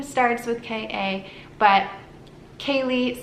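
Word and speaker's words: Kalie: Now, the next name is the name Kaylee, but this one is spelled K-A-L-I-E, which is a very rare spelling.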